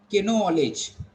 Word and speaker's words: knowledge: So he's going to read something like this: knowledge. Okay, because you don't know that K is silent, D is knowledge, or something like this, or like knife and all other words.